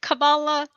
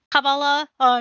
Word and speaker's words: Kabbalah: has Dark Matter, our resident Jewish person, has said if Kabbalah, that's how you pronounce it, Kabbalah, Jewish is Jewish, imagery is Jewish, then Gendo Ikari is my favorite Jewish anime character.